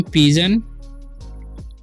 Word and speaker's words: pigeon: यहाँ पर लिखा PIGEON, तो इसे पढ़ेंगे हम पिजन।